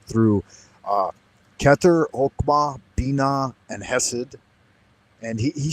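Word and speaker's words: Chesed: and he he said chokema and chess, but I think that ch is actually just an h in Hebrew. And so I've always heard it pronounced uh keter, hmma, bina, and hessid, but I guess you could say it chess as well because it is written ch in English.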